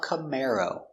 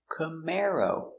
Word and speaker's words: Camaro: C-C m come air cam cam camar o camaro camaro stress on the second syllable.